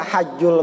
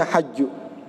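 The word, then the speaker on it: حج: pergi haji jika mampu ini bisa dibaca hajul Baiti bisa dibaca hijul Hai Bisa hadju bisa hijau tapi yang paling mahsyur dibacanya hadju hadju lebay Iti manistatho'a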